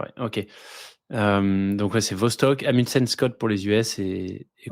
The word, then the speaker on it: Vostok: Une base européenne, donc c'est Concordia, une base américaine et la base russe qui s'appelle Vostok, que je prononce sans doute mal, mais Ouais, si, ouais, c'est Vostok, ouais.